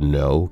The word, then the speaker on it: know: Like the silent K in the word no, K-N-O-W, not the other one, because the other one doesn't have a K.